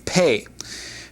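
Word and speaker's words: פ: The next letter is the pei. Pei with the dot has a definite P, and without the dot, or the dagesh, has a definite F sound.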